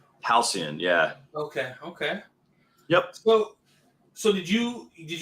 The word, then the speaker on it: Halcyon: It's pronounced Halcyon. Halcyon, yeah.